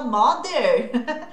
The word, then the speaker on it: mother: É assim que fala mother? Como todo mundo fala? Mother. Tá, só que esse TH também é aquele voiced, que é aquele que eu vou usar as cordas vocais.